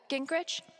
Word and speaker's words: Gingrich: Steph, Gingrich? Is that how you say it? Yeah, that's right.